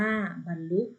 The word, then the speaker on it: บรรลุ: คะ ต่อ ไป ลูก บรรลุ อ่าน ว่า บรรลุ ตัว นี้ คำ ว่า